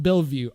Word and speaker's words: Bellevue: Also, it's pronounced Bellevue.